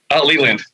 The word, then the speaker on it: Leland: And is it Leland or is it Leyland? How do you pronounce it? Leland.